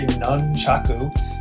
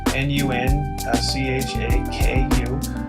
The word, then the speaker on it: nunchaku: things the correct term for them is actually nunchaku n-u-n c-h-a-k-u uh you know if you speak japanese i'm